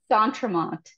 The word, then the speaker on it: D'Entremont: We say D'Entremont, but D'Entremont, a little less French nasally stuff going on.